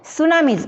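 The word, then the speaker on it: tsunami: Many earthquakes happen under the सी and they often cause great waves called सुनामीज. बघा मित्रांनो, सुनामीचं spelling हे टीने सुरू होतो, पण उच्चार हे तो उच्चारामध्ये टी कुठेच नसतो. सुनामी.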